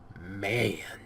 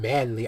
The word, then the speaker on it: MAN: Oh yeah, we're getting manly. I know that a lot of people say it's pronounced M-A-N. Yeah, I know this. Okay, I do. But you still call it a man truck.